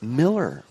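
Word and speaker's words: Moeller: It's Miller. He pronounces it Miller, M-O-E-L-L-E-R.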